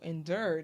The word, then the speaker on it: endure: I know I haven't endured that's how you say it endure and endured like Honduras endured endured okay yeah